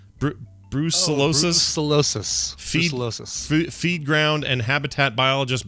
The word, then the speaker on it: brucellosis: Brucellosis? Brucellosis.